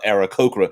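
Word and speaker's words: Aarakocra: uh ken coo and aaron cochran might have uh although i guess you could pronounce it uh arakokora anyway feather species like kenku and arikokra might have molting issues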